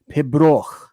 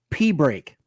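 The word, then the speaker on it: Pibroch: O C H and people thought it was Pibro that it was it was to be pronounced Pibro, but it wasn't to be pronounced Pibro.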